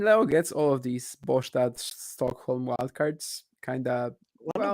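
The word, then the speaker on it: Båstad: So Yeah, the I'm way I pretty said sure it, it's not Bastard, whichever way you yeah, look the at way I it. said is Bostad, but it's like kind of it's not perfect Swedish pronunciation, but it's close-ish.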